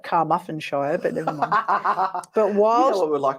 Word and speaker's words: Carmarthenshire: Now, in June of that year, Christine was making a coffee in the kitchen at her house in Ammanford, Carmarthenshire. Oh, sounds like Carmarthenshire, but never mind.